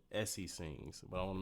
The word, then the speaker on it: Essi: in my promo for the video I said Essie sings, but I want to make sure is that the right way to pronounce it or yes.